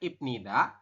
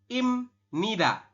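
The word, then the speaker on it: 입니다: harus paham dulu bahwasanya untuk tulisannya ibnida tapi kita membacanya adalah imnida ya Jadi yang perubah adalah miem e bep ketemu dengan Nien ini ya bieep di akhir ketemu dengan Nien maka si bep berubah bunyi jadi m Oke Di situ tulisannya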